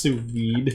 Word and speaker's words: sous vide: Also, it's pronounced sous vide.